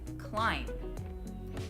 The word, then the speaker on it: climb: sound so V hmm we leave out the B we don't pronounce it climb ba we pronounce it climb so why is it